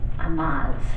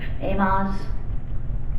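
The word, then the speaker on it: Amoz: pronounced this right, it was his relative's name, Amaz. Am I pronouncing that right? Does anybody? Amaz? Sounds good. Sounds good? A-M-O-Z, Amaz.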